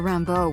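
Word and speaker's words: Rimbaud: me oh it reminds me of something Arthur Rambo once wrote that's how you pronounced that I is another meaning what you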